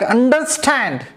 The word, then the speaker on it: understand: therefore luck 1 2 3 and the second syllable is raised there the word like understand the word like understand is also three syllable